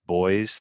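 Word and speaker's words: Beuys: a german artist by the name of joseph boyz that's spelled b-e-u-y-s and he created the term social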